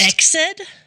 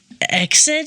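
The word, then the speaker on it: Ecsed: um I'm not surprised exid what is it how do you spell it EC D EC D exid exid I like either one exid Castle okay and she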